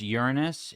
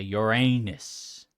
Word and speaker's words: Uranus: It's pronounced Uranus. Yeah, but it's funnier for me to say Uranus.